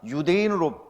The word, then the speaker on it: 유대인: 우리 유태인, 원래는 유대인입니다. 원래는 유다인이었다가 유대인으로 발음하다가 이제 한국 사람들은 발음이 세니까 유태인 이렇게 하는 거예요.